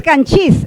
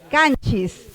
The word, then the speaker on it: Canchis: Debería de jalar el acento. Debería ser canchí. Pero no es canchí, es canchis. Ya, posaca.